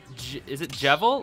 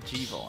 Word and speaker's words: Jevil: Is it Jevil, like devil, or is it Jevil? I've always thought it was Jevil.